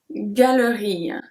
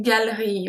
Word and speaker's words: galerie: Une galerie. Une galerie. And if you pronounce it fast, we say une galerie. We kind of skip the E.